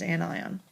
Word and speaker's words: anion: is an anion and that is how you pronounce that is an eye on and so when an anion is is a